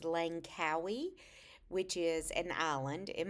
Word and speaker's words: Langkawi: We are flying today to, I believe it's pronounced Langkawi, which is an island in Malaysia.